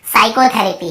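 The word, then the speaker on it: psychotherapy: और उसके बाद देखिए साइकोथेरेपी, क्या बोलते हैं, साइकोथेरेपी। यहाँ पे आपको पता चल गया पी साइलेंट है ना।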